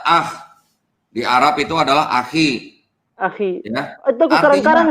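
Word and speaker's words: أخي: Kalau di bahasa Arabnya itu jadi apa, Mas? Akhi. Akhi.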